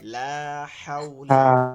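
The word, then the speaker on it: لا حول: এটা কি মনে আছে হাউ উচ্চারণটা হবে অলকের মাঝখান থেকে হলোকে হা জিমের পরে হা লম্বা হা যেটা আছে লা হাওলা হাওলা ওয়ালা কুয়া লা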